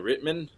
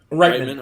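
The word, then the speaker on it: Reitman: director Ivan uh how you say his name Ritman rightman okay uh Boseman wasn't uh I'm sorry Boseman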